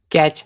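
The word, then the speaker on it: cache: कैच memory, कैच भी बोल सकते हैं, कैशे बोलते हैं, ठीक है? Okay okay. Either you can pronounce it एज़ कैच और या फिर कैशे भी बोलते हैं, डिफरेंट प्रोनाउंसिएशन है, ठीक है?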